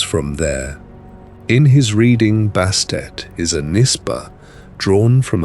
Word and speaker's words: Bastet: When Allen reaches back toward the oldest pronunciation, he does not arrive at Bastet at all, but at something closer to Buistit, a shape strange to our ears, full of a soft catch in the throat that the later language let fall away.